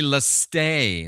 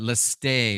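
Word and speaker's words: λῃστής: Because the word is really leste. That's how you pronounce it. Leste or leste.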